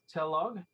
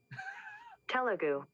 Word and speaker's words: Telugu: of of subtitles and english and then to telog wait wait wait i i made sure